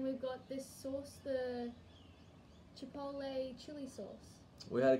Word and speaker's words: chipotle: And we've also got those two jams, and we've got this sauce, the chipotle chilli sauce.